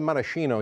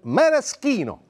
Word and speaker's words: maraschino: BY THE WAY, WE CALL IT "MARA-SHINO" HERE IN THE UNITED STATES, BUT IN ITALY, WE CALL THEM "MARA-SCINO." "C-H" IS PRONOUNCED "K."